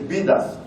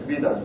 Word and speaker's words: BDAS: sorry for my pronunciation, I hope I pronounce it the right way, is BDAS, not something else, BDAS, BDAS, B-D-A-S.